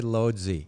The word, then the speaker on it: Łódź: So I would say Lodzi if I was looking at a map, right? Yeah, but there's a little accent on the L. Right, and so he said Woods.